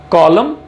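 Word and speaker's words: column: So autumn, कॉलम एंड डैम। तो यहां पर भी देखिए एंड में N यूज किया जा रहा है, बट इसका प्रोनाउंसिएशन, इसका उच्चारण नहीं होगा। सो in this N is silent.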